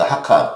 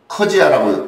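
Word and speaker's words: 客家: 그 중원을 누비던 그 객가라고 얘기하는, 하카라고 얘기합니다. 그 광동어로는 그 하카, 또 그 보통화로는 그 커지아라고 발음하죠. 그러니까 이 사람들이 이제 주로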